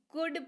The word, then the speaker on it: could: COULD, इसको कुल्ड नहीं, कुड पढ़ते हैं।